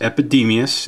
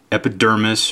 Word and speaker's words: Epidemius: 40K it is pronounced epidemius it's not epidermis or epidemis or anything else like that he is a special